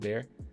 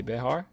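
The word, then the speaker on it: Bexar: It's pronounced Bear. What did I say? Behar?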